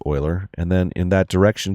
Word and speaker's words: Euler: It looks like it says Euler, but it's pronounced Euler.